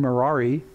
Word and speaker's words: Merari: But the three sons of Levi are Gershon, Kohath, and Merari. Rhymes with Ferrari.